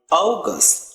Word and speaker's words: August: May, June, July, August, not August, like O long vowel sound, August.